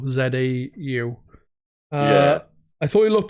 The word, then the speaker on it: Zau: And I think it's pronounced Zhao, Zau.